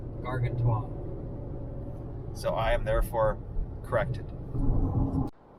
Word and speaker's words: Gargantua: Konrad was so nice to point out that it's not pronounced Gargantua, it is pronounced Gargantua.